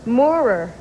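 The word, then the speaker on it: Moorer: what's your last name my last name moer how do you spell that it's m o r e r were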